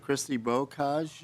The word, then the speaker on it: Christy Bocage: Is Christy Bocage here? You said it right.